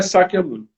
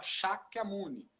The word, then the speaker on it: Sakyamuni: A pronúncia é Sakyamuni. E tem pessoas que falam Shakyamuni.